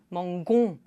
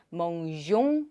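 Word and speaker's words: mangeons: 그래서 의가 들어가면 멍종 하고 발음을 해줄 수가 있다.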